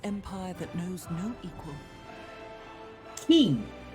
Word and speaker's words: quay: Key. It's pronounced key.